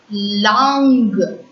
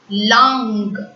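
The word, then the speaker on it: langue: L-A-N-G-U-E. Long. Long. U-E is silent. Long.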